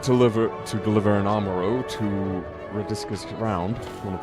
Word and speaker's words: Amaro: I shall ready the Amoro for departure at once. I might go back to pronouncing it as Amaro instead of Amoro.